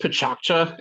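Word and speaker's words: Pecha Kucha: Picha Kucha, it's pronounced Pichakcha, as I understand.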